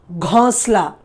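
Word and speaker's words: घोंसला: The next one, listen to my pronunciation, ghonsla. Okay, ghonsla. Gho, O sound, that you can hear my nasal sound there.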